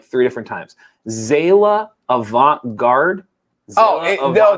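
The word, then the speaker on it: Zaila Avant-garde: three different times zayla avant garde oh no they pronounced her last name avant-garde ivanka just like the okay but is her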